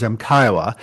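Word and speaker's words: MCIOA: the books since 1994, otherwise known as and pronounced usually as MCIWA.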